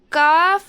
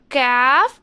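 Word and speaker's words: ك: இது வந்து கேஃப், அது வந்து காஃப். கேஃப் காஃப், அது வந்து ஹெவி லெட்டர், இது வந்து தின் லெட்டர்.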